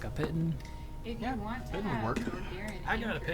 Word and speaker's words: piton: Is it Piton?